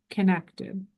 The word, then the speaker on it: qinektd: Sure, it's QIN, like Nancy, EKTD, connected. .com.